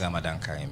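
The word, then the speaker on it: Ramadan Kareem: Salam and Ramadan Kharim. Is that how they say it? Ramadan Kharim. Yes.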